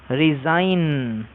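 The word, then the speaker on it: resign: তারপরে আরইএসআইজিএন উচ্চারণটা রিজাইন।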